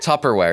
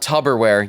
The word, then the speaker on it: Tupperware: correctly by the way Tupperware it's not Tupperware yeah barbarians it's Tupper with Tupperware Tupper Tupperware yes I have a band I love called people say tubber so people say Tupperware I know I say